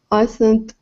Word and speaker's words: island: Indigenous people already inhabited the island. S is not pronounced.